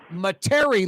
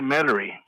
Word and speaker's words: Metairie: I think it's pronounced Metairie, Louisiana. Mr. Johnson, I think it's some people say Metairie.